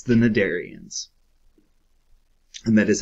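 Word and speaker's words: Cnidarians: symmetry and it's the nadarians and that is how you pronounce them the c there is silent what is radial symmetry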